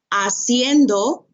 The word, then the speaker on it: haciendo: so now asking questions remember the h is silent haciendo preguntas when forming information